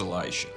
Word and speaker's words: Elisha: Now, there's a dude whose name is Elisha, pronounced Elisha.